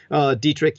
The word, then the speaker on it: Dietrich: EE my middle name Dietrich you just spell it the way that Rex Berra pronounce it diet rich di e TR IC